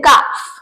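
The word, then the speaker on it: calf: बट इसके baby को बोलते हैं काफ काफ या फिर कैफ आप दोनों तरीकों से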